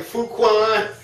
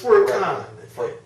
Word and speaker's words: Furqan: Well, it's Furqan and or Qadr or Qadr. It's a Ka sound, but we didn't know no better.